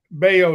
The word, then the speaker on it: Bello: Bayo is how you say his name. All my family Canada, their name is Bello, so they spell it the same way. That's why I laugh every time I hear the way they say it.